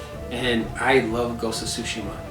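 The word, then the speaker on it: Tsushima: And I love Ghost of Sushima. Sushima, that's how they say it in the game.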